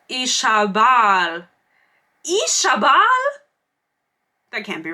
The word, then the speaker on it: Isabel: Fisher pronounced it Ishabal.